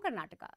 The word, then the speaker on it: Karnataka: out of the way it's Karnataka it's kannada Canada and it's kinetiga so the a is very important and I think just to start things up uh when we talk about Karnataka elections we talk about